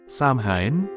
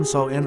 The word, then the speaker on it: Samhain: Samhain, diucapkan Samhain atau Samhain, berasal dari bangsa Keltik